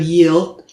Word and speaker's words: yield: It sounds something like yield. Remember, the pronunciation of yield is not chill, like in Spanish. The Y is an E sound, like in the word yellow in Spanish.